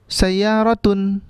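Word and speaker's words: سيارةٌ: Ustaz, bagaimana kalau sayaratun? Dibacanya sayaratun atau sayaratu? Sayaro? Tu apa tun?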